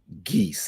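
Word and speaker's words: Guese: okay third okay 3035 geese and it's spelled gues e Road and this is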